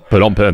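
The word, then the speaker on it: Phnom Penh: this city the name of which I can't pronounce pen pen p on pen that's correct doing great I've been practicing it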